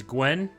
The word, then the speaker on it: Gwen: The one on the mat there is Gwen. And make sure you really pronounce the G.